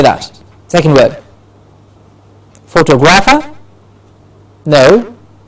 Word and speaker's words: photographer: The stress is on Tographer. So how do we say that? How will we pronounce it? Photog. That's the change that will happen. It will become photographer. Not photographer, but photographer. The tog gets a clear stress and it is pronounced as photographer.